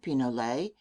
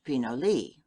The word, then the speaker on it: pinole: Spanish pronunciation pinole English pinoli.